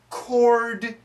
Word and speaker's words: chord: don't know about music this is confusing because the D sound is really weak chord changes no chord